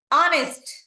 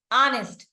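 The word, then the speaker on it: honest: here also H silent హానెస్ట్ here also the same way హానెస్ట్ H silent ఇక్కడ వచ్చేసరికి two different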